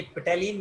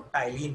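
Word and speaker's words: ptyalin: पिटेलिन domestic, हाँ ये पिटेलिन नहीं है बेटा, इसका पी साइलेंट है, इसको टाइलिन बोलते हैं बेटा।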